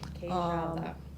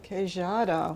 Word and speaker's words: Queijada: Queijada. Can you pronounce that again for me? Is it Queijada? Queijada. What a beautiful name. Queijada, yeah.